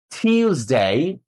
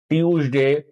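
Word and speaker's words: Tuesday: বলতে আমি বলা শেষ হলে তারপরে শুনে হুবহু উচ্চারণটা করতে হবে। Monday, Monday, টিউজডে, টিউজডে, ওয়েনসডে, ওয়েনসডে, থার্সডে, থার্সডে, Friday, Friday, স্যাটারডে, স্যাটারডে। সাধারণত আমরা এগুলোর উচ্চারণ করি সানডে, Monday, টিউসডে, উইকনেসডে, থার্সডে, Friday, স্যাটারডে।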